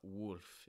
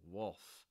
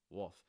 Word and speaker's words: wolf: fall wolf it's not worth it's more wolf wolf that l is not actually pronounced that's something you'll hear it's more like a dark l sound wolf wolf so what